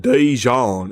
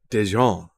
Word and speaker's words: Dijon: It's don. Dejon. You say it like a like a hillbilly. It's not Dejon. It's Dejon. It's French.